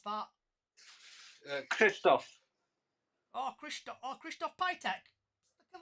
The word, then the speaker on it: Krzysztof: How do you pronounce that? Krzysztof.